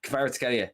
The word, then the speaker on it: Kvaratskhelia: Varatskilkia. Varaskelia. Kvaratskhelia, you got it.